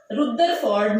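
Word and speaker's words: Rutherford: उससे पहले एक मॉडल आया था रुदरफोर्ड मॉडल, रदरफोर्ड भी इसको बोलते हैं, रदरफोर्ड मॉडल, रुदरफोर्ड भी, जैसे भी आपने इसको प्रोनाउंस करना है क्योंकि ये नाम है।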